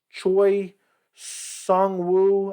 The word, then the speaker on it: Choi Seung-woo: Julian Erosa versus Choi Seung-Woo, I think is how you pronounce it.